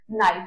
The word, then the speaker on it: knife: See, over here we will not pronounce K knife because K is silent over here. That is why it is knife.